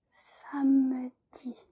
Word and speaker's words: samedi: There is an E here, which if you string out the word, then you do pronounce the E, samedi. But if you are talking in like normal French conversation, then the E is kind of silent.